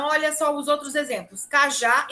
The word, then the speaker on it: cajá: Cajá e café. Vejam que aqui são oxítonas. Elas têm sílabas tônicas no final.